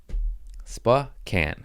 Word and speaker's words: Spokane: into the homie cj landry in uh spokane spa can is how you pronounce it even though it's spelled spo kane